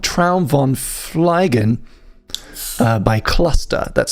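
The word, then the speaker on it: Qluster: It's a track called Tron Fleen uh by Cluster. That's spelled Q L U S T E R.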